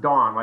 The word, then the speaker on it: Dahn: It's pronounced Dahn. It's pronounced like D-A-W-N.